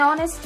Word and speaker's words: honest: Here the letter H is silent. The letter H is silent and these two words make vowel sound. Though they began with consonant, they make vowel sounds.